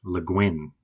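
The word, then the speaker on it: Le Guin: The correct pronunciation is Luin and I have a signed book by her written to her neighbor which is really nice.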